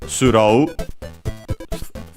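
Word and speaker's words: スロー: s instead of th because uh the th sound doesn't exist in Japanese. Uh, and then we also have uh ro instead of uh uh raw with the long vowel because in this case they want to mimic the o uh uh sound from English.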